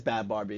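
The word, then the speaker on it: Bhad Bhabie: Oh yeah, it is Bad Barbie. It's just spelled ridiculously.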